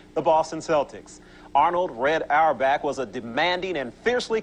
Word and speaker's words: Auerbach: eight straight NBA champions do I be saying arbach I'm pretty sure I'd be saying his I'm apologize look I always be mispronouncing people's names and I hate it it's arbach but I I just want to say arbach all the time have I been saying